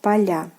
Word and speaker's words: поля: So we get поля. The stress falls on the last syllable here.